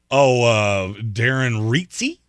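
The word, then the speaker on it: Darren Rizzi: Darren Reitze. Darren Reitze. Whose last name is spelled Rizzy, and I feel like his Rizzy is a lot more drip than what Dennis Allen had.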